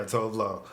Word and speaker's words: Tove Lo: Is that how you pronounce it? Yeah, Tove Lo.